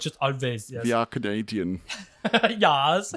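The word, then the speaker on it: Alvvays: Is called a band called Always, but the W is spelled with 2 V's.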